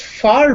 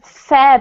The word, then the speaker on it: fare: Is far better or fare better? In this case, it's fare better, Raphael, because fare is actually a different word to far.